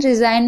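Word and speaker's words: resign: तो यहां पर जी साइलेंट है। याद रखिएगा और देख लीजिए पढ़ के। रिज़ाइन रिजाइन में भी आप देख रहे हैं।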